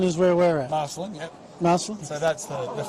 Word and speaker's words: Marcellin: How do we pronounce the name of the campus? Champagne. Champagne. So that's the Mitchell Park. Yep. Marcellin is where we're at. Marcellin.